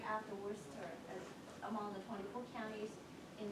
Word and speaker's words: Worcester: The only one was ahead of us is, how do you pronounce it? Worcester.